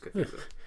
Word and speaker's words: Cthulhu: Yeah, or if we're pronouncing that right. I'm pretty sure it's Cthulhu.